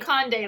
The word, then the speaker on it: Conde: eat something okay condi oh I'm saying Conde like Conde Nast looks how it's spelled okay well should